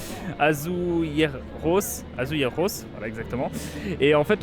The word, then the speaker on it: azulejos: Donc je disais, et juste derrière moi en fait on peut voir des bâtiments avec des façades qu'on appelle ça des azulejos, si je prononce bien, c'est toujours pas ça, c'est quoi la prononciation?